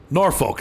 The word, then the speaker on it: Norfolk: roads crabby police officers yeah it's not pleasant Norfolk that's where we're going D so I know in Virginia it's pronounced norfol like nor do they call it Norfolk in in uh Nebraska or do they pronounce